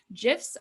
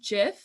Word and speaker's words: GIF: gif is um and it is pronounced jif i was very convinced for a long time that it was gif and i was corrected